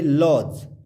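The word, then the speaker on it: lodge: यहाँ पे लॉज, एल ओ डी जी ई, लॉज।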